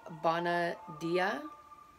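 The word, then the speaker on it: Bona Dea: and then we have bona dia i believe is how it's pronounced b-o-n-a d-e-a um it is a roman goddess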